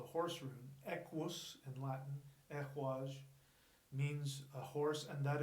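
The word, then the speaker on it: Ehwaz: Now the elk rune is not pronounced, actually there's three. There's El-Haj, Ehwaj, and Yuhwaj.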